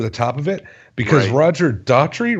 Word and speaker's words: Roger Daltrey: the music over the top of it, because Roger Daltrey, right? Is that his name? Am I saying it right? Roger Daltrey.